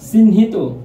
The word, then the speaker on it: চিহ্নিত: Viewers, একটু লক্ষ্য করো, চিহ্নিত। ভিউয়ার্স, একটু লক্ষ্য করো, এখানে চিহ্নিত, চিন থেমে গেছি তাই হসন্ত, হিত হয়কার তয় ওকার, হিত, চিহ্নিত।